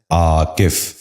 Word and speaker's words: عاکف: غور سے سنیے، عاقبت۔ پانچواں لفظ ہے عاکف۔ یہ غلط تلفظ ہے، درست تلفظ ہے عاکف۔ دوبارہ سنیے، عاکف۔ بچوں